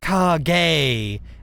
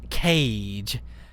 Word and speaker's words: Kage: Just so y'all know, Kage is supposed to be pronounced Kage, not Cage.